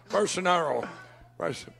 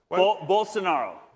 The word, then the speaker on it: Bolsonaro: Bolsonaro. Yeah. Bolsonaro. Okay, Bolsonaro. He's going to be coming here to speak in a couple hours. He's going to have the president of Brazil, Bolsonaro's son, to speak.